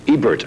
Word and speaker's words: Ebert: I pronounced Roger's last name wrong. It's Ebert, right? Ebert?